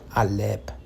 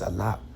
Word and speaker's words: Aleph: Not freaking Alep. It's Alap. Not Aleph.